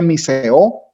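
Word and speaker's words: μισέω: Mira, aborrecer viene de una palabra griega que se pronuncia miseo, dice que significa aborrecer, odiar, detestar, sobre una base comparativa.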